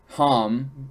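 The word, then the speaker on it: ǀXam: comes from it's pronounced Ham people. It's pronounced. There's a weird character that I don't know, and then it's XAM. So it's pronounced Ham somewhat, and it's the Ham people of southern Africa, and they had this.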